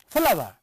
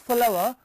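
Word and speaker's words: flour: It is not flow as generally people read it. No, it is flower, it is flower.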